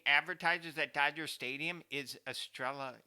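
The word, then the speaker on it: Estrella: that Dodger Stadium is Estrela how do you say astral astral a beer Oh Stella oh no it's estrela I think there's an R in there what's Drella oh yeah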